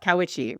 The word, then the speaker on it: Cowiche: He's going to go to a local town nearby called Cowiche. We have some interesting pronunciations in this episode. I'm doing the best. Cowiche, right?